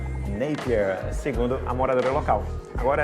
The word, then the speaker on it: Napier: nome da cidade né a forma correta é napier segundo A moradora local